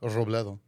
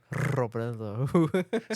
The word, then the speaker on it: Robledo: No, you gotta say it like Spanish though, like Robledo. Robledo. See, you can roll your R's.